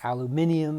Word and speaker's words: aluminium: here and that's alum it's either aluminium if you want to use the british pronunciation or aluminum if you use the american we'll use the american